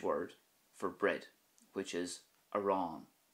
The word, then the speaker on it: arán: for bread, which is aran. So the start of that word is a, and then at the end you will hear the stress and focus on the fada, aran.